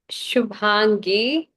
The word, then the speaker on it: Shubhangi: So like the B and the H kind of Shubhangi. Shub- It's Shubhangi. Oh, Shubhangi.